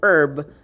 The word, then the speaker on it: herb: sounding nouns for example the word honor hour and herb you would still be using your n article because there's a silent h particularly acronym i am